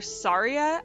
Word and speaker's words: Saria: now most of the zelda fandom calls her saria i think even miyamoto calls her saria and